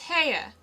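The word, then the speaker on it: Haigha: happy his name is heya he pronounced it so as to rhyme with mayor i love my love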